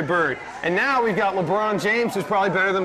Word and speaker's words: LeBron: Well, what do you think about the LeBron James? LeBron... Huh? Or as I said on 96 Rock one time what was that? In the morning, I said... LeBaron James.